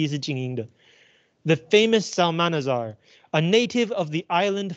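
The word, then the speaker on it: Psalmanazar: essay mentions the famous salmanazar so uh you do not pronounce the p p is the famous salmanazar a native of the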